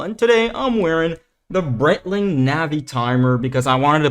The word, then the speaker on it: Breitling: And don't try correcting me on that pronunciation down in the comments because it's a Swiss brand, not a US one, and that's how you pronounce it.